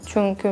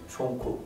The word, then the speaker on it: çünkü: 'Çünkü' for example, I still say it wrong when I talk too fast like that. But I guess every word with 'u' was difficult for me. 'Çunku' Yes 'çunku' and 'kotu'. There is little difference between 'bad' and 'box' when I say it.